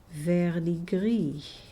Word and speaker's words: Verdigris: over to another color, Verdigris, and my pronunciation is just terrible because I think this should be pronounced the French way, Verdigris.